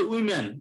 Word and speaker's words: women: আর এই যে আমরা প্রোনাউন্সিয়েশন কিন্তু আমরা ভুল করলে কিন্তু ভুল, যদি সিঙ্গুলার হইতো তাহলে আমরা সেটাকে বলি উমেন, আর যখন প্লুরাল সেটা হচ্ছে উইমেন, এই ওটা এখানে আই উচ্চারণ হবে, এটা মাথায় রাখবে কিন্তু।